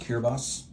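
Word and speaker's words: Kiribati: It's out of focus, but it's pronounced Kirabos.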